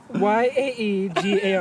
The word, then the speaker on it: Iaeger: Yaegar. That is really close. That is really close. it's IAEGER. That was pretty close, though.